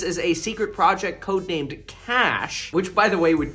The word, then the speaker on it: Cache: arsenal of weapons but it's pronounced like cash C we're gonna go